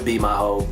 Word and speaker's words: BiMiHo: BiMiHo, I pronounce it BiMiHo, but because it just sounds better and cooler.